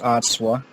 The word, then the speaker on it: Atswa: Her name is spelled Atswa, and it's pronounced Atswa.